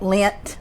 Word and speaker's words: Lindt: And some of them have a cut lint. Am I saying it right? The lint candy.